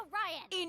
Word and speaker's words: Orion: You tried to steal it from us first, and it's pronounced Orion!